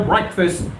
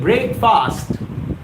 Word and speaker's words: breakfast: and you had a breakfast well I never said breakfast let me talk about the right pronunciation of this word b-r-a-a-k-f-a-s-t it's not break fast it's breakfast breakfast breakfast breakfast breakfast